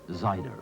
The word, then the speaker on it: cider: that West country Tipple cider pronounced of course zider or scrum a couple